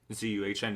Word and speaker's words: Zuhn: So late in the third round, they got Trey Zuhn. I think that's how you pronounce his last name. Out of Zuhn. Zuhn, yep.